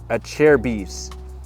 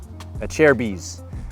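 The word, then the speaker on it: Acerbis: Motocross fan and these a cheres that's how you say it a chair bees a chair bees these handguards I mean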